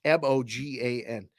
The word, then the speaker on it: Mogan: his name been pronounced Morgan because it's m o g an there's no R though it's just Mogan 615 Nashville Tennessee that's